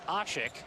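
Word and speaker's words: Aşık: and fifth points but the pronunciation that we've gone with here and speaking with the some of the Turkish officials is ashik I'm gonna go with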